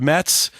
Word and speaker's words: METZ: being here thanks the band is called Mets uh they are our Friday live guests today their self-title debut album is out now uh me Z is the way you spell it if you want to